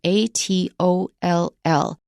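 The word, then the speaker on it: atoll: is also a specialized word in English spelled a t o l l that's a toll and that is an island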